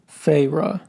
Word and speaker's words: Feyre: Spelled Feyre. Farah.